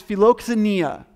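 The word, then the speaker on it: philoxenia: is uh let me make sure that i pronounce it right okay uh filoxania hospitality is filoxania and that is actually a compound word philoxania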